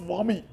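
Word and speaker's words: WAME: wami it is called I mean it is pronounced as wami w m World associate of medical editors sir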